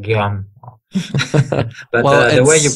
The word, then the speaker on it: Guillaume: They have trouble with Guillaume pronunciation. It's like Guillaume.